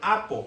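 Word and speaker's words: ἀπό: También esta palabra viene de otra, se deriva de apo, así como suena A-P-O, acento en la O.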